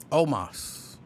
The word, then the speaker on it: Omos: How do you pronounce it again? Omos.